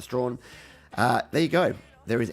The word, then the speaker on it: Strachan: nothing better right and Andy strong Strachan looks like but I'm pretty sure you'd pronounce a strong there you go there